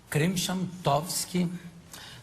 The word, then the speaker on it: Krymchantowski: Dificuldades que foi para aprender a pronunciar esse nome. Krimshamtovsky.